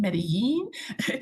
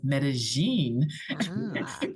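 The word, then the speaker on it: Medellín: And I know some people say, don't you mean Medellin? No, in Colombia, they pronounce it with their own accent, which is Medellin, Colombia.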